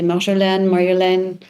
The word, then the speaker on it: Marjolein: It's called, you pronounce it actually as Marjolein, the Dutch way, but over the last years, I've heard people say Marjolein.